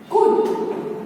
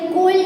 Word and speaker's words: could: Okay, कुड, COULD, कोल्ड नहीं बोलेंगे, क्या बोलेंगे हम उसको, कुड। यानी ल का तो साउंड आता ही नहीं है, इसीलिए एल है यहाँ पे साइलेंट है।